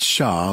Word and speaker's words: cher: how she'd guessed it sha she repeated pronouncing it shaw like he had that's a cajun endearment pronounced differently from the classic french word cherie color him impressed you